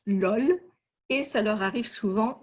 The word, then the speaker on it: LOL: Les Français le prononcent LOL et ça leur arrive souvent de le prononcer vraiment dans une situation à l'oral.